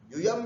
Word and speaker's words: यूयम: कई बार कई लोग यहाँ पर गलती करते हैं, त्वम, युवाम ऐसे बोलते हैं, युवाम नहीं, त्वम, युवाम, यूयम, यू दीर्घ है, यहाँ जोर लगाना है, यूयम भी नहीं बोलना है, यूयम, ये ध्यान रखना, यूयम।